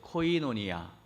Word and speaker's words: 코이노니아: 잘 안 될 수도 있거든요 한번 따라해 보세요 코이노니아 너무 잘하셨어요 쉽지 않은 발음인데 코이노니아 코인원이야 올 한해 여러분 입술로 코이노니아라고